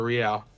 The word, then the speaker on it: real: Rial pronounced the real rial.